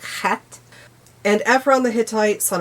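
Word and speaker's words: Heth: The children of Het, which I completely mispronounced in the video. It is Het. Although it's not more of a forward H. It's the backward H. So, it's more like Het.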